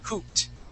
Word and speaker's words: hooped: a t sound H when we add an ed D after a p okay that e d makes a t sound so we say hoop